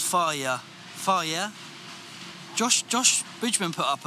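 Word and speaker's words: Fage: the yogurt of choice i say farge and it pisses people off even though it's pronounced fire fire josh josh richmond put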